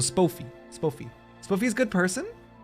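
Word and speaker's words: Spofie: Long O. So Spoffy. Spoffy. Spoffy's a good person? Spoffy.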